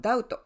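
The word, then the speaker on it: doubt: もう 1 つはダウト疑うっていう動詞の DT の B は読みませんねだからオーディオ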